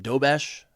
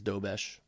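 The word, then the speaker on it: Dobeš: But then the goaltender, I I forget how to pronounce his name, Dobesh, I think it's Dobesh.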